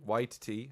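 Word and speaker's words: Waititi: taiko what titi movie apparently white tea apparently this is how you pronounce it that's how he says it he's i hope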